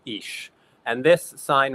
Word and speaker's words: ix: For example, here we have what is known as the ish sign. This X is pronounced like an sh, and that's an old Spanish custom.